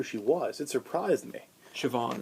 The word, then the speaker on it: Siobhan: Siobhan, that's her name. It's spelled really weird. That's how you say it, though.